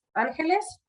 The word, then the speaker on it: Ángeles: Su nombre, her name is Ángeles. Okay, okay. Like Los Angeles.